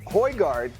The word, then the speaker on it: Højgaard: But anyway, Højgaard. Outstanding. I'm pretty sure they didn't give me a pronunciation. Højgaard is correct.